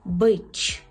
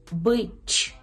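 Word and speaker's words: być: Так, отже, «ц» з рискою читається як «ч», це є м'яке «ч», «ч», наприклад, у слові «бич», «бич», «бич», так, це «з»,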